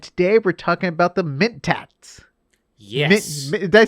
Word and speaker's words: Mentat: right now and today we're talking about the mint tax did they say it right you did say